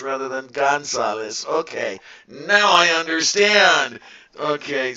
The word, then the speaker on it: Gonzalez: I misspelled your name before and I keep pronouncing it going south rather than Gonzales okay now I understand okay so everything's all